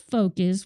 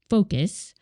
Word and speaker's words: Phocus: But Smart Phocus, which is spelled with a PH, Focus, that company between 2013